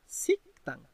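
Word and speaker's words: 식당: লক্ষ্য করুন এখানে বাসিম গিয়কের পর যেহেতু দিয়ত আছে এই কারণে মূলত দিয়তটা সাং দিয়তের উচ্চারণ হবে, হয়ে যাচ্ছে আপনার সিকতাং।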